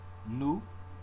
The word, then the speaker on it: nous: Nous, you drop the S.